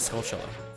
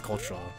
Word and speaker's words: Skulltula: yeah I pronounced it social you everyone it's like yeah that sounds so dumb obviously it's cultural like tarantula it's dead tree oh